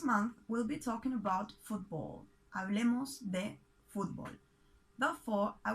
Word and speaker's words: fútbol: when we talk about football in argentina we're referring to football soccer we separate this word in two syllables and we mark the accent on the first one foot ball football in spanish all